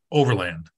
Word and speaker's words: Overland: So in Norway, they pronounce it Overland. Is that right? Over here, we pronounce it Overland. Okay. How do you pronounce it? Overland. When I go back over there, my cousins go Overland.